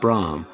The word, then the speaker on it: Bram: B R A M. Bram, they pronounced it Brahm. Um, and everyone was was mispronouncing it.